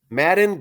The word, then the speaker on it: Madden: Madden Greenway. It ends with an N.